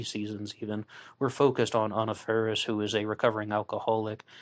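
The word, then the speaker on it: Faris: ferris and i believe she pronounces her name anna ferris not anna ferris and also features alice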